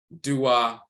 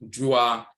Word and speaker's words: dua: And you have dua, also pronounced jua, to praise, to adore, to honor.